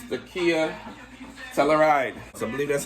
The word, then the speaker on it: Telluride: So today, it's the Kia Telluride. So I believe that's how it's pronounced.